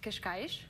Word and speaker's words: Cascais: I grew up in a town called Cascais.